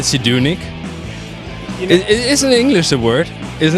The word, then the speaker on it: Zdunich: Did I say it right, Zdunich? Isn't English a word, isn't it? No, it's Croatian actually, and I believe it's Zdunich, but I could be saying it wrong.